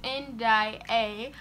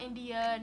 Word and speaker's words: Indiyae: it out of nowhere it's pronounced end I a I'm not India not NDA change my channel name